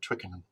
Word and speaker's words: Twickenham: saying that we're at twickenham is that the right way to say it by the way it is that was pretty good pretty